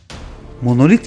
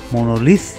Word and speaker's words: monolith: Telaffuz olarak sadece biz Türkler monolit olarak ismen kullanırız. İngilizce'de monolith, Yunanca'da ise monolithos şeklinde kullanırlar. Yani ses olarak sondaki T harfi S sesi verir.